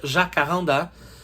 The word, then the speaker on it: Jacarandá: livro que é Jacarandá sim é esse nome claro com a pronúncia francesa Jacarandá e esse livro é